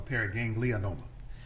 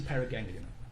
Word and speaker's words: paraganglioma: Doctor, just for clarification, is it pronounced paraganglioma or paraganglionoma? I often add in the extra vowel, so it's a paraganglioma.